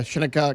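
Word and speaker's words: Shinnecock: You got to get the shenna part correct. You don't want to say shiny. Got to make sure it's shenna.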